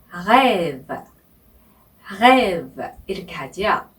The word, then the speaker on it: rêve: 네, 첫 번째 자음인 R 그러니까 프랑스어로는 R라고 부르는 이 R의 발음이 하기가 힘드실 거예요. 네, 한국 사람들이 제일 힘겨워하는 발음인데요. 네, 아침에 가글 하실 때 목구멍에서 하시잖아요. 네, 이 목구멍에서 나오는 이 소리가 바로 R의 발음입니다. 그죠? 네, 그래서 rêve, rêve 이렇게 발음하시면 됩니다.